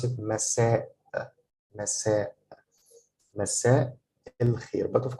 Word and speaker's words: مساء: a pause, like that you have to pronounce a as if you're starting a new word, starting with a, with alif, with a. So here I will pronounce it مساء.